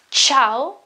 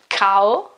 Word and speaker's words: ciao: in every case sure just when you have an i or ii vowel so in this case it's Chow and not not cow okay because you have